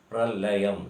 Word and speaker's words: pralayam: Actually, the pronunciation is Pralayam.